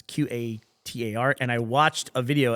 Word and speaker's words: Qatar: We had a discussion about how to pronounce Q A T A R and I watched a video afterwards how to pronounce it. It's mo the accepted American pronunciation is Qatar even though it sounds like guitar.